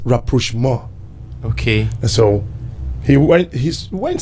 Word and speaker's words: rapprochement: It's a French word. Okay. It is pronounced rapprochement.